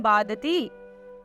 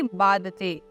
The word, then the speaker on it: बादते: बादती राजन यथा बादती बादते, कि राजन बादती शब्द का आपने उच्चारण गलत किया है। जब हम इसका सही उच्चारण करते हैं तो इसका सही उच्चारण होगा बादते।